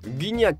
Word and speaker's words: Gignac: coach la saison dernière guignac comme le prononcent les Mexicains s'est converti à la